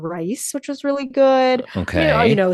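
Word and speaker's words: Raíz: So did this great tasting menu called rice, which was really good. Okay. Sort of like your elevated menu. Well, I think it was rice spelled like RAIZ, so sort of like a nod to mice.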